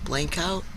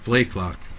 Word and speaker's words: Blakelock: We want to thank Vegas Meal Prep, Blankout. Is that how you say her name? Blakelock. Blakelock.